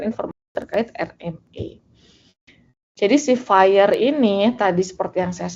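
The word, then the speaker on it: FHIR: Dibacanya fire seperti eh api dalam bahasa Inggris gitu ya.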